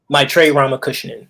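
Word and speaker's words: Maitreyi Ramakrishnan: My Trey Ramakrishnan. That's how they pronounce it.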